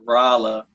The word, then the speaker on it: Rolla: Ken, I have been wondering for a long time, how did you get to Rolla, Missouri? Oh, well, see, it's Rolla. Rolla. You're right. That's English for, people just pronounce stuff different in different places.